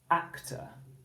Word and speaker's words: actor: So for example, if we had actor, the syllable that's stressed is ak, isn't it? So we spell that ak. The second syllable, t, is not stressed, it's the schwa. So it's spelled like this, t, but it isn't said actor, it's said ak, t, actor. So once we put the syllables together into a word, that's when it becomes that schwa sound.